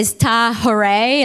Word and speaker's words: Tahirih: We often say Tahirih, like hooray. And so oftentimes during our galas, the audience even says Tahirih. But it's not to minimize the meaning of Tahirih, because Tahirih is an Arabic word that means the pure.